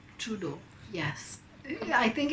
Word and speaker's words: Trudeau: I hope I'm pronouncing his name right. Justin Trudeau. 6.5 hours later. Trudeau होता है Justin Trudeau.